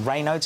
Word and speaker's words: Raynaud's: Now, Raynaud's is the right way to pronounce it?